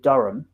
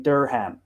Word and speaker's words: Durham: so you will get americans saying durham instead of durham because it has an h in and you will get